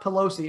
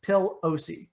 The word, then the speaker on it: Pelosi: i mispronounced her name it is not pelosi it is pill ose oh pill i'm not